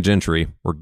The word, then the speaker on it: Gentry: Is it Gentry or Gentry? Gentry. Okay, I thought it was. I've heard Gentry a lot, and that threw me off. You live in Michigan now, bro. It's the Michigan pronunciation. It's the Dutch coming through.